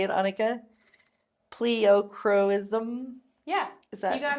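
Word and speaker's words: pleochroism: Pleocroism?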